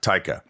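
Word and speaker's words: Taika: always it up uh TAA taica yeah taica I have a feeling he just calls you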